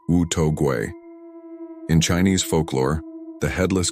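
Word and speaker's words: 无头鬼: The headless ghost, pronounced Wu To Gui.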